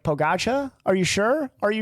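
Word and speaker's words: Pogačar: name on that list it looks like it's spelled like pogacha but it's just pogach I think is what I see yeah he's a kti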